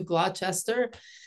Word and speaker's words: Gloucester: it I'm switching campaigns and I'm moving to glester and he said you first got to learn the how to pronounce the name so here I am 30 years later I live in Gloucester Massachusetts and um began working with fishing communities